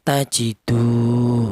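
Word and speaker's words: تَجِدُوهُ: Ini juga kalau kalau tidak ada wunnya mad thaobi dibaca pendek juga tajidu. Berhubung ada waumannya mati maka dipanjangkan tajidu seperti itu.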